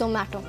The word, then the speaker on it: Zomato: No offense to you, but it's Zomato. Zomato.